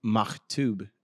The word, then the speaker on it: Maktub: Maktub is, I believe, how it's pronounced, but M-A-K-T-U-B.